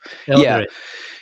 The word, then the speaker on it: Eldritch: Eldritch. Yeah, Eldritch.